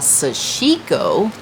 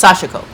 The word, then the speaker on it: Sashiko: So what we would call Sashiko, putting the emphasis on the chic, you don't. It's Sashiko. Everything is no emphasis, no emphasis. So this is Sashiko, and not that it's